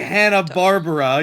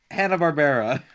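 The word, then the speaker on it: Hanna-Barbera: not pronounced Yeah, like okay. Hanna Barbara. You fool. What the God. hell, Imer? What is Hannah Barbarian? Barbara. God damn it, Hanna Barbera.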